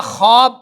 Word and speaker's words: خواب: ادا نہیں کریں گے۔ اسی طرح خواب، خواجہ، خار، درخواست، تو یہ واو کی آواز نہیں آتی ہے، جو آگے جو لفظ